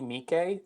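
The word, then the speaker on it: Miike: And I I was always pronounced just Mike like Yeah. No, it's Mik with the two eyes.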